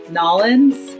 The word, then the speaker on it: New Orleans: And similarly, New Orleans in Louisiana, they all pronounce Nolens, Louisiana.